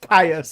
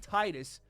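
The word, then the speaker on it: Tidus: I guess I pronounced his name wrong for the entire video. Yes. Titus.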